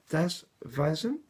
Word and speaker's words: Das Weisen: I don't know if I'm pronouncing that right for our German viewers, but Das Weisen. I remember from my school days, the W is pronounced like a V, I believe.